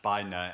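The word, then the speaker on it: Bina: so the first is by now by Anakin Anakin or Scofield's who's really interesting writer I've read one of her previous books and and this is supposed to be pronounced by nur and it's about a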